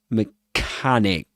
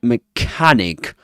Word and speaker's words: mechanic: Mechanic. So, we say mechanic. The vowel sound, the a sound in mechanic rhymes is actually well, let's put it this way, rhymes with garage.